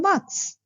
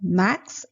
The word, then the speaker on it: Max: Then Max replies Ich heiße Max. Remember, A is A, so it is not Max as in English, but then Max.